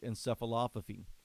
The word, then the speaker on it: encephalopathy: They're like encephalopathy. I'm not sure how to pronounce that. So the other anchor went and looked up how to pronounce it. And you actually pronounce it encephalopathy.